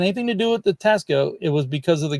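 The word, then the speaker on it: Taxco: I always say it's like Texaco or something. Texaco. Oh, Tasco. Okay. Tasco.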